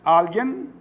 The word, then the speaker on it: alguien: Alguien, anorexia. Qual a sílaba tônica de alguien? Al.